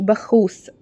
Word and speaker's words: باكوس: غريب شويه صح ا بكوس اتسمت على اسم خواجه يوناني كان اسمه بخوس بس اليونانيين ما كانوش بينطقوا الكاف زينا كاف كده كانوا بيقولوا عليها خ يعني اي حاجه عندهم